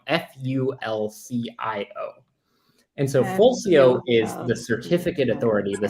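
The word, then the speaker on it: Fulcio: certificates is it's called Full Co is the name you you might have heard or falchia there's no canonical pronunciation as far as I know f-u-l-c-i-o and so fulsio is the certificate Authority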